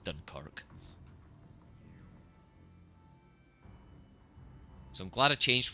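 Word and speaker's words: Dunkerque: I used to refer to it as the dunk as well, which makes sense if you don't. But then I had someone who speaks French correct me and it is pronounced Dunkerk.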